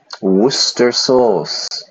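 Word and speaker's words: Worcester sauce: that word difficult for for many people to pronounce Worster sauce garlic and mayonnaise so it's a very strong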